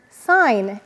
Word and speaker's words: sign: we have the word sign in signature what do you notice in sign we have a GN and that g is silent and I used to